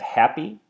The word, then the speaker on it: happy: So I have happy, I split it into two different noises, I add the stress on the first syllable, the ha, and then I change